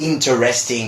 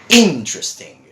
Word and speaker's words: interesting: And this is one of those words that I keep telling my students, no, it's not interesting or something like that. It's interesting. Interesting, right? So that's the way we pronounce it.